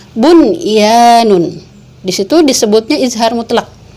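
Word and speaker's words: بُنْيَانٌ: Enggak kita baca duya, enggak kita baca siwanun, enggak kita baca qiwanun, enggak kita baca buyanun, tapi tetap dibacanya dun ya, terus shin wa nun, qin wa nun, bun ya nun.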